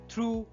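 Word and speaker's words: through: তাই দো, থ্রু, বট ইত্যাদিতে কিন্তু ওইউ জিএইচ থাকলেও জিএইচ কিন্তু সাইলেন্ট থাকে।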